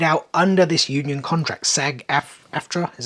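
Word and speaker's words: SAG-AFTRA: that was carried out under this Union contract sag f aftra is how you pronounce it however it is pronounced uh which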